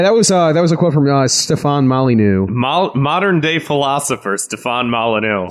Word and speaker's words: Stefan Molyneux: Stephen Molly meme. It's pronounced Stefan Molyneux.